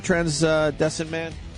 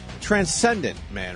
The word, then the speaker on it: Transcendent Man: Do we have the trailer for Transdescent Man? How do you say that? Transcendent Man, right?